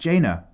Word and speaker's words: Jaina: over our name but it's pronounced Jana oh god I'm so sorry guys am I still doing it I did it last time as well didn't I Jana sorry Jaina Proudmoore kind of like Dana excellent read more sadly